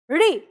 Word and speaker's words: ऋ: स्थान पर रखनी है और उच्चारण यह करना है ऋ जल्दी ऋ नहीं ऋ तो अब ये जो